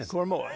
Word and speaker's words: Koroma: Koroma, yeah.